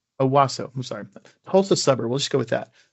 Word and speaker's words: Owasso: Owasso. Owasso.